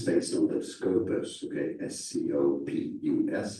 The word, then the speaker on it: Scopus: Scopus is pronounced Scopus. But Scopus is SCO, and SC before an O would be a scope sound, but SCI, SC before